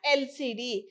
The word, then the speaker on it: LCD: it is pronounced as the letters only like lcd uk hr mla okay they are pronounced as first letter of the word only so they are called as initialisms let us see the examples and lcd why is and used here this is a